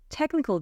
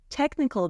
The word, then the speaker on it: technical: technical debt technical debt so the CH is K and the B is silent debt technical debt refers to the